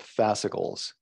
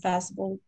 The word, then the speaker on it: fascicles: And muscle cells make up fascicles, and fascicles make up whole muscles. Make up fascicles and fascibles. Make up Fascibles? How do you pronounce it? Fascicles. Okay, Yeah. fascicles. Like popsicle, but fascicle, bicycle, fascicle.